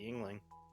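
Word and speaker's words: Yuengling: I gotta start looking for some chocolate Yingling.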